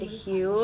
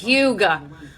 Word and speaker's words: Hue: Mario lip liner in the shade Hue. I was literally pronouncing this Huga.